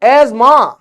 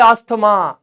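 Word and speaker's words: asthma: अब ये बोल रहा है एज मां। वाह मतलब सीधा ये दो वर्ड साइलेंट हो गए। दो वर्ड सीधा साइलेंट एज्मा हमारे जैसे आदमी बोले अस्थमा यह कहो ना ना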